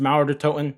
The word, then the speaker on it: Mauer der Toten: But either way, it is going to be pronounced Mauer Der Toten.